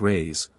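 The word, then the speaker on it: reis: the Portuguese pennies or Reese pronounced rays are prodigious it takes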